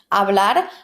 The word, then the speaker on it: hablar: Hablar por teléfono. Hablar por teléfono. Remember that in Spanish, the H is silent.